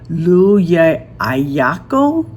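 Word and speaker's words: Llullaillaco: Lua Ayako volcano. L U L L A I L L A C O. Now, in Spanish, the L sound is a Y, so I'm not sure.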